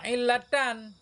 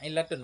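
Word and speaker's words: عِلَّةٌ: Au illatan, au illatun. Ya, illatun bacanya. Atau pada wahwa illatun.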